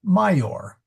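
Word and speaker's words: maior: Well, it's a Latin word, but it was spelled with an I and pronounced mayor.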